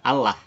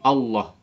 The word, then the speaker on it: Allah: Meskipun saya koreksi e kalau dalam konteks agama Islam menyebut nama Tuhan kami itu bukan Allah tapi Allah Coba bisa gak Allah